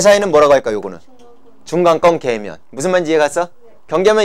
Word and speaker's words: 계면: 성층권 계면. 얘하고 얘 사이는 뭐라고 할까? 요거는 중간권 계면. 무슨 말인지 이해 갔어? 경계면 이름을 붙일 때 밑에 층의 이름에다가 계면을 붙이면 된다고. 네. 발음 정확하게 하세요. 면입니다. 년이 아니고요.